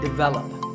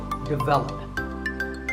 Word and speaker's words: development: zoology number 42 is developed this is pronounced wrongly by many learners of English as develop but the first syllable is actually big and the stress is on the second syllable so development our next word is